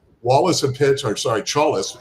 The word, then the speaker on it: Chalis: I think he Wallace had pitched or sorry, Chalis, it rhymes with Wallace. That's how I remember it.